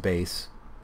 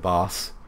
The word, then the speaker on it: bass: right or this boss I know it's pronounced bass but I like to pronounce it boss whatever B uh I